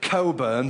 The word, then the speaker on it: Cockburn: butcher, baker, carpenter, and cockburn. Of course, they insist on pronouncing it coburn, but we know the truth.